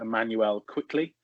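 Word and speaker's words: Immanuel Quickley: can correct me wrong i think it's just pronounced emmanuel quickly uh guard from kentucky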